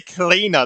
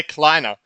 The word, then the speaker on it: Kleiner: I could say Cleaner. That is not the name. Kleiner. Jesus Christ. I can't fully remember how to say it all the time. But yeah, Kleiner.